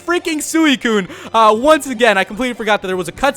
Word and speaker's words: Suicune: me see you later you guys also told me I was mispronouncing suicune I don't know I just kind of pronounce things in my own way like kind of in Zelda I pronounce Sheikh Sheikh I did that forever until I eventually started going to shake so I guess I'll probably just start going with suicune but who knows it